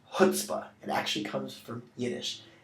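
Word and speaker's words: chutzpah: up on the GRE see that first C don't pronounce it it's this word is pronounced hutzpah it actually comes from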